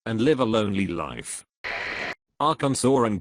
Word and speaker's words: Arkansas: They are pronounced differently because the Kansans took the French pronunciation of the word and the Kansans took the Spanish pronunciation.